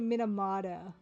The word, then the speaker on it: Minamata: And if yeah for Brit says Toronto just my name my last name is Minamata. I say Minamada because Canadians slur their T's.